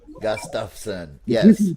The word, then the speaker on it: Gustafson: But you say my last name is 3 syllables. Gus, tough, like leather, tough, son. Gus, tough, son. Gustafson.